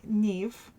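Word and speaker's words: Niamh: his daughters is um yam uh or n Neeve right look spelled nyam but pronounced Neeve and that is Neeve the golden haired who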